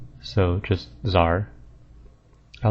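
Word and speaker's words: TzHaar: been debated a bit I think the tar volcanic creatures are pronounced Zar so completely ignoring the T and the H so just Zar I like tar better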